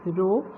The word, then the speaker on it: rho: It is pronounced as rho, or you can use d also, but mostly now you will find rho everywhere.